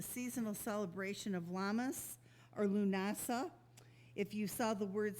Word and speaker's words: Lughnasadh: like my last name, it certainly isn't spelled the way it is pronounced, but it is pronounced Lughnasadh.